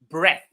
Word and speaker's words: breath: So the view took my breath breath breath. Notice the pronunciation breath.